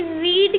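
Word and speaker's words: read: बात ध्यान रखना कि रीड की थर्ड रीड की थर्ड फॉर्म रेड होती है बट स्पेलिंग हम रीड वाली ही राइट करेंगे आर ई डी यानी रेड की स्पेलिंग हम राइट नहीं करेंगे ये ये डाउट मैंने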